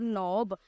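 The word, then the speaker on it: knob: And turn the door नॉब, और मैंने जो दरवाजे की जो दस्तक थी उसको घुमाया। टू ओपन द डोर, दरवाजे को खोलने के लिए। अब इसमें हमारा के साइलेंट है।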